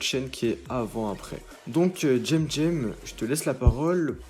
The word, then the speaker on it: Cem: Alors premièrement, il y a une petite chose qui m'intrigue, c'est le nom de ta chaîne, donc Tsem, qui s'écrit C-E-M, mais qui se prononce Jem.